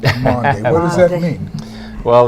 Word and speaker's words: Maundy: That's not trying to be Monday. That's Maundy.